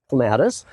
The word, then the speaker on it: clematis: And on the east wall, we have 2 sections of clematis. This is the Jackman clematis with the, some people pronounce that clematis.